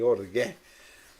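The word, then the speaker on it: ὀργή: Eu tive pesquisando aqui a pronúncia correta, né, e achei orgué. Eu já ouvi alguém falar orgue, eu vi um pregador falar orgue, mas tem um acento ali, então ficou orgué.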